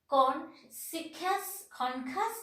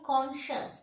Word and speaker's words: conscious: Like conscious, we are telling conscious, concus, no. We are telling conscious. That means C is silent here.